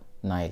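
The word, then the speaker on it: Nile: सबसे पहला रैंक का नाइल है, ठीक है। नील हिंदी में प्रोनाउंसिएशन करते हैं, और नाइल।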